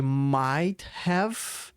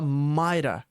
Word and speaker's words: might've: Ao invés de might have, ele fala might've.